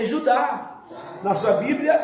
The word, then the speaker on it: Judá: É Judá. Na sua Bíblia é Judá, não é isso? Judá, mas no original é Iudá.